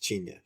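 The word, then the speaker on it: Chinya: There's no N at the beginning. Oh, okay. It's not China. It's just China.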